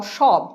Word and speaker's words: সব: তাহলে উচ্চারণ কি হয়? সব। যদি রোমান হরফে দেখি তাহলে সেটা দাঁড়ায় SH, অর্থাৎ লিখছি দন্ত স কিন্তু উচ্চারণ হচ্ছে তালব্য স।